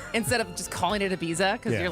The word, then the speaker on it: Ibiza: going to be the jerk who's like, it's Ibiza instead of just calling it Ibiza because you're like forcing an accent even though